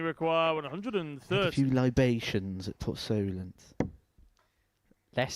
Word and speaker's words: Solent: Give me the posh pronunciation then. No, no. How How would you describe it? What was it? Solent. Solent. Port Solent. So Solent. Who? Port Solent.